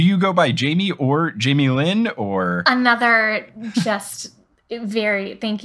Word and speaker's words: Jaime Lyn: My full name is actually Jaime Lyn, all one word. Oh, interesting. And it's butchered so often, or this is from me as a child, but I was called J or like Jamelin.